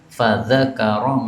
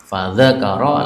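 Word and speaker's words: فذكر: Fzakaro mlahu. Cara membacanya gini, Pak. Fadzakaro. Lalu dia menyebutkan mlahu semisal hadis di atas. Meskipun tidak ada kata-kata fadakar, tapi cara bacanya begitu.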